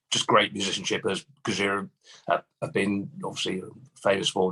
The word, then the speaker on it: Gojira: I won't name them yet, but we're going to France, and we're going with the massive, well, they are now, Gojira, which is Japanese for Godzilla.